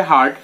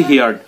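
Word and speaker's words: heard: ব্যবহৃত হবে কি হার্ড, হিয়ার এর বি থ্রি উচ্চারণটা হবে হার্ড কিন্তু বি টু এর উচ্চারণ হচ্ছে হিয়ার্ড, তাহলে নো সুনার হ্যাড যখনই আই হিয়ার্ড আমি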